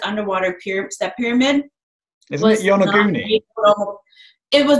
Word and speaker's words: Yonaguni: Yeah, Yonaguni. Okay. Oh, right. I just didn't know if I was pronouncing it wrong.